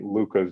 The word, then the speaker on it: Luka: Growing up, there were not too many Lukas that I knew of, Luka, spelled that way. And so people still continue to sometimes spell it wrong, say Luke Garza or Luca.